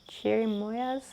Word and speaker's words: cherimoyas: different flavors that's okay that's all right it's pronounced like why cheer moyas cherimoyas frozen guster is a cold dessert similar to